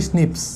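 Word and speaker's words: SNPs: और इसे प्रोनाउंसिएशन आप करते हो स्निप्स, प्रोनाउंसिएशन स्निप्स करते हो, ठीक है, पर बोलते हैं SNP है, ठीक है।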